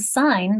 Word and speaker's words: sign: Think about the silent G and sign becoming sounded in signal and signify, or signature. You lose it with resign or assign, but it's back in resignation.